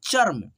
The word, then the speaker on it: चर्म: जैसे चर्म, ठीक है, चर्म, देखो यहाँ पे च को पहले पढ़ेंगे, ठीक है, च, और म पे लगा है तो म को हम लोग पहले नहीं उच्चारण करेंगे, जैसे चम मर नहीं पढ़ेंगे, पढ़ेंगे च फिर र पढ़ेंगे, चर्म, ठीक है, चर्म, ऐसे पढ़ते हैं, ठीक है।